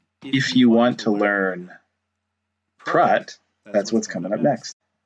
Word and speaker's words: Praat: Well actually, what's cool with Praat not Pratt in my home life, I call it Pratt. I know it's not the right way to pronounce it, but I do.